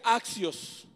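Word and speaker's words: ἄξιος: Esa palabra es una palabra griega que se pronuncia axios.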